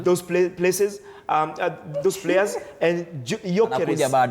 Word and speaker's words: Gyökeres: Those places, those players, and Gyökeres. You have to know the correct pronunciation. It's Gyökeres. Okay. Not Gyökeres. It's Gyökeres.